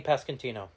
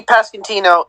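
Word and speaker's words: Pasquantino: how do you say his last name vinnie pascantino vinnie pascantino and nick prada like like come like come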